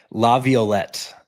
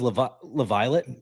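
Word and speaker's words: Laviolette: name uh but yeah I thought it was La lav Viet but it's La violet yeah looking yeah he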